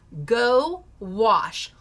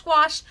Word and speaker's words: gouache: It is pronounced go wash. Gouache. I always rhyme it with squash. Squash. Gwash.